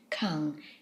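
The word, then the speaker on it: 館: Finally, we have the character which is pronounced kang, and it means a public building.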